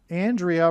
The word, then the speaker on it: Andrea: Andrea rhymes with aliyah.